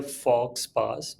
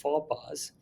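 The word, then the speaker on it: faux pas: Next important is, अब ये पढ़ने में लग रहा है फॉक्स पास, बट ऐसा नहीं है। इसकी राइट प्रोनाउंसिएशन है फॉपा और इसका मतलब होता है गलती।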